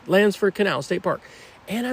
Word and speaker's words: Landsford: Lansford Canal State Park.